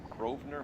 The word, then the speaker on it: Grosvenor: And she was borrowing books from Grosvenor McCaffrey. That's not how I would have pronounced that word if I hadn't heard it first. It's like Grosvenor Square in the UK. I would have called it Grosvenor, like almost assuredly.